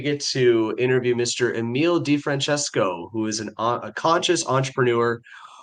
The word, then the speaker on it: DeFrancesco: DeFrancesco. Did I pronounce it right?